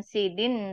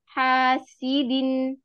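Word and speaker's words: حاسد: hasidin Wam syarri hasidin hasidin bukan Sidin tapi hasidin i i i sekali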